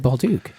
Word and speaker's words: Bolduc: no you pronounce it bulu because you're in America yeah okay I've always said Bal Duke have you really yeah well yeah you're doing it correctly it's French Canadian awesome H was just